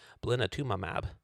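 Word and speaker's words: blinatumomab: tested the addition of a targeted amunotherapy drug blatumab. Yes, that's a real word, and that's actually how it's pronounced.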